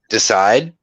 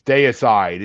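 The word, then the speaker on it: Deicide: of the same feeling you mean decide day aside it's day aside it's it spelled it's spelled the same way as decide no it isn't there's an extra I in there d c i d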